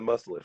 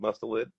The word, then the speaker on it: mustelid: Um, Skunks are no longer considered in the mustelid family, Right, which at the time we thought they were.